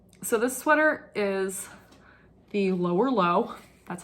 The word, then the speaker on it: Lower Leogh: nice sweater um so this sweater is the lower low that's how it's pronounced by mj michael stone from fair isle